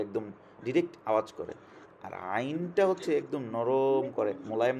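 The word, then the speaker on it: عين: আর আইনটা একটু ডিফারেন্ট, এটা হচ্ছে কণ্ঠ, মানে আমাদের গলার যে কণ্ঠ আমরা যে উচ্চারণ করি, সেখানের মাঝখান থেকে আমরা সেটাকে উচ্চারণ করতে হবে, একটু নরম করে, একটু নরম করে স্মুথলি বের করতে হবে।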